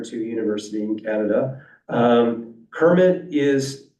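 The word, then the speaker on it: CIRMMT: Partnerships and we have one going um that's pronounced Kermit um and it's a um special Center up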